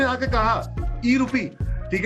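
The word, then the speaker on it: e-RUPI: कदम बढ़ा दिया है अब रुपया नहीं रुपी ई रुपी आर यू पी आई आर यू pi spelling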